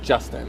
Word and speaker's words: Justin: So Justin is trochaic because it's trochee. Because like Justin. Does that make sense? But if it was like Justin, it'd be like an iamb but it's Justin, so it's like trochaic. A lot of two-syllable names are trochaic.